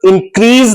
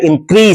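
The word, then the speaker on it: increase: और इंक्रीज, इसको इंक्रीज नहीं पढ़ा जाता, इसका सही प्रोनाउंसिएशन है इंक्रीज। से का साउंड आएगा न कि जे का साउंड।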